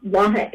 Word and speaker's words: LaHaye: it's not LaHaye, it's LaHaye. How do you say it again? LaHaye. Right. LaHaye.